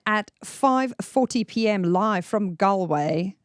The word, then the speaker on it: Galway: live from Galway. Is that Is that how you say it? Galway. Galway.